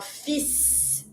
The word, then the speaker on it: fils: This one, in the word son, you're going to pronounce the s, but you're going to avoid the l. So, we're going to say un fils.